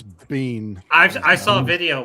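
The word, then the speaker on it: Biehn: How do you pronounce Bean? We say Bean in Scotland. I hear people say Bean. Bean. Bean. Bean. I've heard I've heard people say bine.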